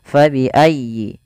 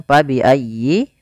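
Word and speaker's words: فَبِأَيِّ: belum kita ulang sedikit fabiayyi di sini Fa harus dialirkan jangan sampai diganti dengan P jangan diganti dengan pabiayyi ahah jangan tapi kemudian dia bacanya dengan huruf F Fa fabiiayyi kemudian pfal ya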